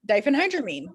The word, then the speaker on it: diphenhydramine: hydramine yes yes actually you said it right diphenhydramine that's excellent so diphenhydramine is actually that's the